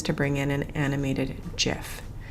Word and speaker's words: GIF: There is an ongoing debate as to whether or not this is pronounced GIF or GIF. Some people feel the need to correct me because it is a graphics interchange format. It should have a hard G sound instead of the J sound.